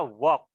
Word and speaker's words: walk: one are you Can walk l-nya nggak dibaca jadi bacanya work work work work RF live